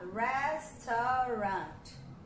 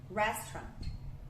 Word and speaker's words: restaurant: A mesma coisa do restaurant. A gente quer falar restaurant. A gente quer falar dessa forma, certo? Porque a gente quer separar tudo bonitinho. Só que na verdade é restaurant. Apenas 2 sílabas, né? Restaurant.